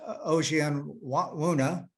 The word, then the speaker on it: Ojianwuna: Josh Ojianwuna, yeah, that's how you say it. We call him Old John Werner. Yeah, that's probably a better way to pronounce it.